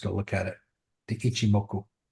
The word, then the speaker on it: Ichimoku: I'm going to say it right, but this shimoku cloud. Can you explain what that is? A what cloud? It's a I h I am ku. Ichimoku.